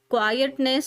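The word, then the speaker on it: quiet: क्वायट की spelling को ध्यान रखना है। आई ई टी वाला होता है।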